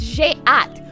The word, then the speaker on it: j'ai hâte: So I think it's j'ai hâte, which is so weird because it's spelled H-A-T-E, like hate.